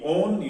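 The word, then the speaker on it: -one: तो एल्डिहाइड के लिए एल अल और कीटोन के लिए ONE ओन यूज करते हैं। जैसे वो देखने में 1 लग रहा है बट यहां पर इसको 1 नहीं बल्कि हम इसका प्रोनाउंसिएशन ओन है।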